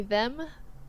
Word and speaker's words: themme: My handle is they them. Them is spelled like femme, but instead it's THEMME.